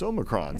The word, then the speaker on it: omicron: he's like no no you're saying it all wrong it's omicron so indeed say something